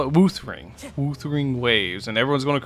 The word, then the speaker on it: Wuthering Waves: It's supposed to be pronounced Weathering Waves, but the way they spelt it is kind of fucked. So I call it Wuthering Waves, and everyone's going to correct me till the end of time.